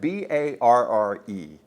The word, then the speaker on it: barre: For some reason, they spell that b a r r e. I never have understood that. It's a barre. You're barring a chord.